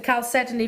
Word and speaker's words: chalcedony: nice with the chalcedony Yes. as well. The chalcedony from the 12 o'clock kit.